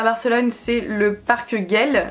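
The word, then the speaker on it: Güell: barcelone c'est le parc guell je crois que ça se prononce gueule et non pas du tout se prononcent gouel et le portugal c'est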